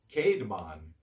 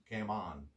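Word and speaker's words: Caedmon: Cademan C-A-E-D-M-O-N. I thought it was Camden, but Camon. Can you help? You know, pronunciation?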